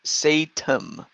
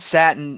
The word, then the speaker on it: Satan: It's pronounced Satan. Satan. No, I said Satin on purpose because I know how to pronounce it for real.